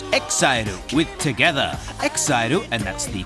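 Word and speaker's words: EXILE: Exairu, and that's the correct pronunciation incidentally, are just one of the many boy bands in this week's Top 40.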